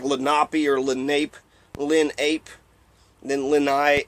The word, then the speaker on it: Lenape: It looks like Lenape or Lenape.